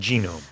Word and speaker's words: genome: English, we pronounce it genome. 네, 맞아요. 이렇게 가끔 보면은 영어 발음과 우리말 발음이 많이 다른 경우들이 있는데요. 그 중에 하나가 이 genome입니다. 게놈이라고 우리가 하는데 영어로는 G 발음.